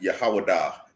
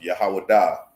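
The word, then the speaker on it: יהודה: You pronounce it Yehowadah in the Hebrew. It's pronounced Yehowadah in Hebrew.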